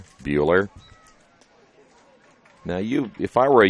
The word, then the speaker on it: Bueller: I noticed in the pronunciation guide from Concordia, they say Bueller like Ferris. Bueller.